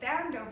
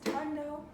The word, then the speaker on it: Thando: So people say Thando, but the actual way to say my name is Tando.